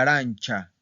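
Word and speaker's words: arancia: La arancha, la arancha. ¿Ok? La arancha, cha, cha. Y para el plural, bueno, ¿qué regla seguiría para empezar? Seguiría la número 1, ¿verdad? Perdón, la número 2, porque es consonante y más cha, ¿verdad? Consonante y esta terminación, cha.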